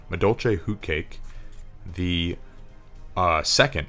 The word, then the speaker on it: Madolche: raptor can stellar sombre this one's pretty awesome mao doce madolche i always say the name wrong madolche who cake the uh second sombre that you